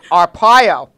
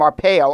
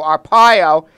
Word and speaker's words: Arpaio: he pardoned Sheriff Joe I always pronounce his name wrong but thank you for giving me the right yeah Arpaio I was calling him our pale Arpaio he's 85 years old